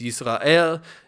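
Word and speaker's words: ישראל: That's the way it's written out in Arabic, means that it's pronounced, it's not in Hebrew, it's Yisrael.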